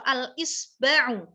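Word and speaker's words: الإصبع: Itu ada hamzahnya di bawah. Berarti bacanya kasroh. Al-isba'u.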